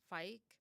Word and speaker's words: Feig: Lively yeah Paul Fike I'm going to say his name I feel like I have to say that for the next few times for anyone who doesn't understand why I'm saying f that's how the German pronunciation which is he's his name is German or and or like